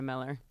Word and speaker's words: Mueller: be German like Mueller full on umlauts make it German uh that go by Miller so it is literally Miller okay it is Miller